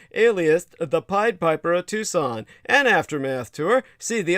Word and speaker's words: Tucson: comom uh spell Tucson as you would tuxen TS o n and uh that's pronounced Tucson put the word the in front of it the Tucson murders.